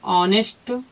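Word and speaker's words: honest: आ रहा है, आ की स्पेलिंग ए होती है, यहाँ हम लिख देंगे एन आवर। और भी है जैसे ऑनेस्ट, तो है तो H से शुरू, लेकिन इसको हम पढ़ते हैं ऑनेस्ट बोलते हैं इसे।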